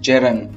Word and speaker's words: gerund: अब ये ध्यान रखिएगा बेटा, जो जिरंड है इसको वास्तव में जिरंड नहीं बोलते, क्योंकि इसमें जो डी है ना वो साइलेंट होता है और इसका सही प्रोनाउंसिएशन होता है जेरन, GERUN, यही बोला जाता है, डी नहीं बोला जाता।